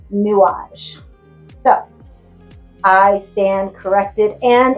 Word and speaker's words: Nuages: Um, I pronounced it new and I'm terrible because I took two years of French in high school and um I should know better. It's newage.